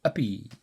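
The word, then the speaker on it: uppe: Up is spelt U-P-P-E. I expect you gathered I've been saying uppy.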